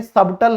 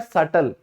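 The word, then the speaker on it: subtle: और ये होता है सूक्ष्म, बहुत सूक्ष्म, तो उसे हम कहते हैं सबटल नहीं कहेंगे, ये होता है सटल। क्या होगा, सटल।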